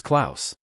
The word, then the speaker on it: Klaus: Dot uh Claus Cloth KL- Noel mispronounced, "It's Claus.